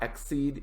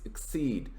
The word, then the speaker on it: exceed: number four is exceed notice my pronunciation is not exceed its exceed and this is be